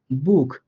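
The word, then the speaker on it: Buch: বর্ণ পাইছি, তাই এই সিএইচ যুক্ত বর্ণের পূর্বে আমরা একটা ইউ পাইছি, আমার সূত্রের ইউ পাইছি, এই জন্য আমি সিএইচটাকে এখানে খ এর মতো করে উচ্চারণ করব, বুক।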